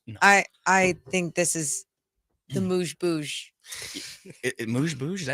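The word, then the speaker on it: amuse-bouche: A moose boosh. Oh, moose. A moose? A moose. Moose. A Like moose. moose. A moose boosh. Like Mooze, like pronounced like moose.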